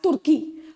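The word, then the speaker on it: Türkiye: that turkey has changed its its name as turkey okay so that's now the international pronunciation of its name the correct pronunciation so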